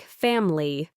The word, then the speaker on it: family: The o in the middle, family. The I is often a schwa, making it sound more like family, chocolate.